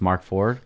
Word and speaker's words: Mark 4ord: It's Ford, but it's like spelled different. It's with the 4 instead of the F. You know. So when you have people like pronounce it, it's just Mark Ford.